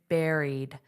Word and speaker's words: buried: So, here, notice the pronunciation, buried. Just like a strawberry, raspberry, buried, buried, eed, eed. So, this is a long e sound, buried, eed, eed.